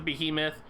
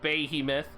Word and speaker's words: Behemoth: Love the Golem 2-star, love the Behemoth. Sorry, said it wrong, Behemoth.